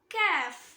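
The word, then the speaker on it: كاف: Next letter கேஃப். இத நாக்கோட வேர் பகுதி காஃபை touch பண்ணோம்ல, அதுக்கு கொஞ்சம் முன்னாடி அங்க டச் பண்ணணும். கேஃப் கேஃப் கேஃப்.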